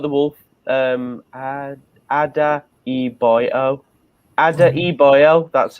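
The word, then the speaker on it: Adarabioyo: Ada Iboyo, that's how you pronounce Ada it.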